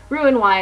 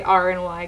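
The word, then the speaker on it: Roux-en-Y: bypass RN y um ruin Y is actually how it's said but I say R and Y because it's just shortened way to do it um and LP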